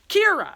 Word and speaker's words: Qi'ra: qi'ra, spelled Qi'ra, pronounced Qi'ra.